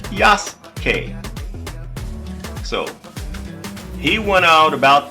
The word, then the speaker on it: Yasuke: But his name with the U silent as in Japanese is Yas.